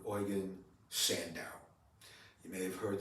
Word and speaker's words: Eugen: it's sometimes pronounced as Eugene it's oan in German EU is pronounced oi and oan uh was